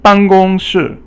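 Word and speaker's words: 办公室: And then 办公室. 办公室 is basically it's basically fourth tone, and then you also have first tone, and then fourth tone again. So 办 is fourth tone, 公 is 办 is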